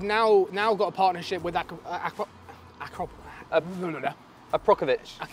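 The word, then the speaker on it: Akrapovič: So actually they've now got a partnership with Aprokovich. You said how you say it? I thought it was Akrapovic. It is Akrapovic or anything.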